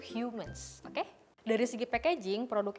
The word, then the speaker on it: HMNS: tulisan hmns nah gitu ini dibacanya itu bukan HMS ya tapi itu hiu mens Oke dari segi packaging